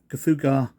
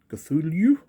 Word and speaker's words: Cthulhu: Cthulhu? Not quite how I say it. I make the U differently.